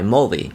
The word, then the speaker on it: Mulvy: I think I can actually pronounce this correctly. Mulvi M Lu or M U L V Y. Mulvi, right? That's simple enough. Even I can pronounce that.